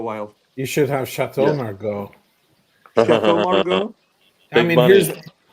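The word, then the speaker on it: Margaux: You should have Chateau Margo. Chat Margo. I mean, here's here's the question, Sean. Have you ever gotten around to the big five? Here's a that is Margo.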